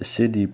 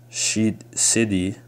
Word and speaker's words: Siddi: It says, the Siddi, pronounced also as Siddi or Siddi or Habshai, are an ethnic group inhabiting India and Pakistan.